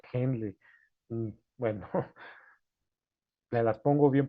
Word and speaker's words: Henle: ¿Cómo se pronuncia? Henle, así como suena Henle.